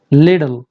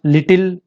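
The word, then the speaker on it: little: Let's see the trick, लिडल लिडल लिडल, ये लिटिल लिटल नो लिडल।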